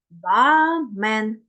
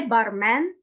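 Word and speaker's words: barman: ми читаємо як е тому бамен не бармен не барман а бамен а якщо вам наприклад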